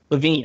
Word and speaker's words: LaVine: Zach Levine. How does he actually pronounce it? I actually don't. LaVine.